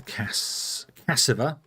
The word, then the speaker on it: cassava: I know how to pronounce it. I'm saying it. It's Cassiva. That's how you pronounce it, because that's how the word is. I read the word, it has letters in it, and I read the letters as they go.